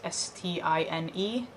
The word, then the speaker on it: Stine: My given name, for the record, is S-T-I-N-E, pronounced Stine.